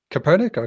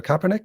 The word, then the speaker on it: Kaepernick: his name now but the american football player copernicus kaepernick kaepernick yeah yeah he took a knee yes